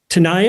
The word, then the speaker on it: Tanaya: to introduce the actors in the room um tanaya is that how you say your name is how you pronounce it perfect tanaya beatty nora dale and moe brings plenty thank